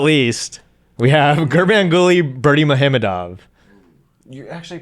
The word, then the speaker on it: Gurbanguly Berdimuhamedov: And last but not least, we have Gurbanguly Berdimuhamedov. You actually pronounced that one pretty well.